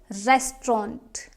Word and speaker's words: restaurant: Next word is my favorite, restaurant. Restaurant, and it is commonly mispronounced as restaurant. I know the spelling is like restaurant, but this is English. It's restaurant, not restaurant.